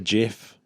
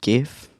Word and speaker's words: GIF: A GIF, a GIF. It's actually pronounced GIF. Yeah, a lot of people pronounce it GIF, but I've always pronounced it GIF. Because the graphics in GIF begins with a G.